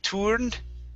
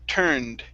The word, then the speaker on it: turned: okay this word here instead of turned okay give me an er sound tur turned turn turned okay very nice and okay